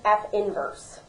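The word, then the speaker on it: f⁻¹: is pronounced is just F inverse okay so you don't even say the negative one that's just part of the notation so we have the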